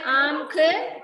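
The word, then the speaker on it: आँख: ദാംത് തിത്തലിയാം അംസിന ചാന്ദ് ഇങ്ങനെയാണ് വായിക്കുന്നത് ഒരു ആം എന്നുള്ള ഒരു പ്രൊനൗൺസ് ആണ് വരുന്നത് അവിടെ ആം അം എന്നുള്ള ഒരു നമ്മൾ പറയുമ്പോൾ ഒരു മ് എന്നുള്ള ഒരു ഇത് ഉച്ചാരണം വരും അതിനകത്ത് അല്ലാതെ ദാത്ത് ചാത്ത് എന്നൊന്നുമല്ല വായിക്കേണ്ടത് ആം ഖക്ക് ദാംത് പിത്തലിയാം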